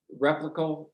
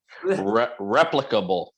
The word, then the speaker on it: replicable: That's why I'm interested in hauntings that are frequent and replicable, whatever, you know what I mean, people. Replicable. Replicable. I knew there was an extra accent or syllable in there.